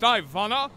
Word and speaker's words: Ivana: Jackson's arch nemesis um is it pronounced Ivana yes stop reading my name